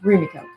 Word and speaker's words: Rumiko: But it's like Rumiko. That's it. That is my apologies. Rhymes with Fujiko. That's a good way to remember Rumiko.